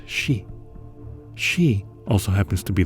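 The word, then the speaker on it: 四: bad luck such as in Japan where it is pronounced she she also happens to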